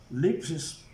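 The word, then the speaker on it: θλῖψις: Si nosotros vemos en el diccionario Strong, tribulación, la palabra 2347, lipsis, se pronuncia así, pero dice que significa presión también.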